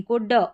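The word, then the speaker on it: could: से तो वहां पर ओ यू एल डी को वुड करके पढ़ना है। क्योंकि एल यहां पर प्रोनंसिएशन इसका एल का उच्चारण नहीं हो रहा है।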